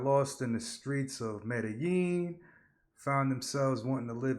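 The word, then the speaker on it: Medellín: No, I think you said it right with the yin. Yeah, Medellin. Medallion. Huh? You gonna get us banned by saying that. it's Medellin. Medellin, yeah, Medellin. You have to say yin.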